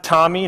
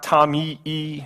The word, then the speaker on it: TomEE: And so we pronounce it Tommy, not Tommy E. It's just like the name, like the guy, like the person Tommy.